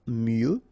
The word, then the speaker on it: mieux: il OK il faut OK impersonnel falloir one form il faut valoir mieux final x not pronouncedoir mieux se vendre en bouteille se vendre en bouteille